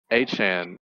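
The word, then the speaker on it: Achane: Um, Achan, that's how you pronounce his name, right?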